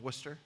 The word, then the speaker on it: Worcester: So you were a music education major at the College of Worcester. And you pronounced it correctly.